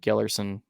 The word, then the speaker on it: Gellerson: Third place, Jake Gellerson. I actually said that right first. Okay, it's spelled way different than it sounds, and I got it right, so never mind.